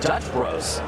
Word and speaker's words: Dutch Bros: Look at Dutch Bros. No, that's what I just mentioned. I I'm aware. I didn't know it was up point. Dutch, bro. You don't pronounce the S.